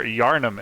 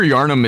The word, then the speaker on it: Yharnam: is almond and overture yharnam am i pronouncing that right charnam yes yharnam i actually uh didn't explain